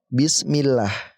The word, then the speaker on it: bismillah: juga baca tebal tetapi ketika huruf sebelumnya ini berharakat kasrah ya maka kita baca tipis contohnya di sini di atas ada bismillah millah ini tipis dibacanya tidak tebal seperti tadi Nasrullah ya perhatikan bedanya teman-teman Nasrullah bismillah yang pertama ini tebal ya Nasrullah yang kedua tipis bismillah Nah itu adalah lafdzul